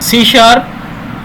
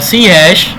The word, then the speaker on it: C#: रहा है सी हैश, लिखने में ये सी हैश है और इसको हम बोलते हैं सी शार्प। सी हैश is pronounced as सी शार्प।